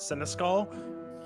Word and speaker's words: Seneschal: No, this is actually pronounced Seneschal.